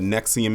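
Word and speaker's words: NXIVM: And if you don't know what Nexium is, and it's spelled NX IVM, it was basically uh a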